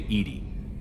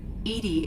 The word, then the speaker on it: EDI: why are you named edie edie is the phonetic pronunciation of edi that is an acronym for enhanced defense intelligence